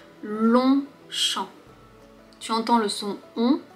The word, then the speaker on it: Longchamp: Long, on ne prononce pas le G.